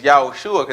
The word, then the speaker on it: Yahushua: right there all right but his name is yahushua that's how you say it in the Hebrew all right they already